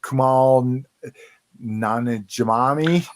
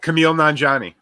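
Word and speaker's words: Kumail Nanjiani: let's see for me kamal nana jamami oh he's funny pronounce it correctly for us cliff because i murdered it i know oh camille nanjani yes much better thank you cliff um indira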